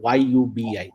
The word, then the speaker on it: Yubi: So I am working as a senior director of engineering right now in UB it's a Yubi somebody tells it UB so I just wanted to spell it out and it is a uh fintech company in lending domain.